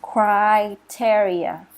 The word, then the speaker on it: criteria: is criteria. Criteria. So Oh, the first syllable criteria. is like when you cry, right? Criteria.